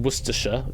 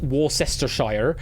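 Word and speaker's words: Worcestershire: And yes, it is pronounced Worersha, not Warcester.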